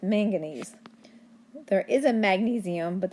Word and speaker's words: manganese: this is main manganese manganese and magnesium are not the same thing I'm not saying it wrong it's manganese there is a magnesium